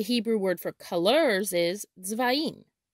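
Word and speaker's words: צבעים: The Hebrew word for colors is tzvaim, tzvaim. In Hebrew, the color red is pronounced adom, adom.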